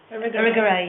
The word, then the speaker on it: Irigaray: Would it be useful to consider, I can't pronounce the name, I don't think, Irigaray? Irigaray, yes.